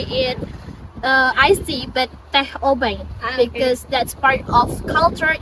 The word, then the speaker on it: obeng: The name obeng comes from the all pronunciation teh openg influenced by Chinese culture. Peng time local people here pronounce it as obeng.